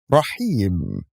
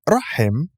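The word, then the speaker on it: رحيم: with the first example raheem here we have ye with nothing above it and the letter before it which is ha has a kasra below it so actually we do not pronounce the yeah but we pronounce the letter before it ha with extending the kesra it's not rahim it's the second example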